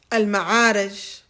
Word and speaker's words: Al-Ma'arij: The next surah, Al-Ma'arij.